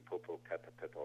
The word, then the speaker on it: Popocatépetl: going into that giant volcano outside Mexico City, Popocatépetl, I believe is how they say it.